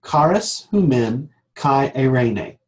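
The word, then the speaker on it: χάρις ὑμῖν καὶ εἰρήνη: In Greek it is pronounced charis humen kai eirene.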